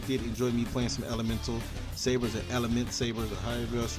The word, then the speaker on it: Elementsabers: Hope you guys did enjoy me playing some Elementsabers or Elementsabers or however else you pronounce it. But yeah, man, what is it? Elementsabers? It's Elementsabers.